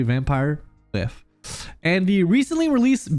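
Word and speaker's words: Vampyr: Je dis tout le temps Vampire à cause du Y, mais je pense que c'est prononcé Vampire.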